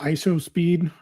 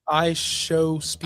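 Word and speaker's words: IShowSpeed: And I didn't I figured they're gonna pull ISO speed. ISO speed. How do you say his name? I show speed.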